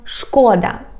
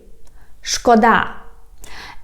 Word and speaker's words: шкода: For example, we have a word шкода and шкода. So guys, шкода, it means it's a pity. Шкода. And if you put stress on the first syllable and say шкода, it means harm.